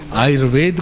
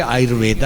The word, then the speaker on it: आयुर्वेद: पढ़े लिखे नहीं हैं एक अर्ध पढ़े-लिखे लोग आयुर्वेद को भी कहेंगे ayurveda और बढ़िया पढ़ा होगा तो वह सही उच्चारण करेगा जो है लेकिन कम पढ़ा लिखा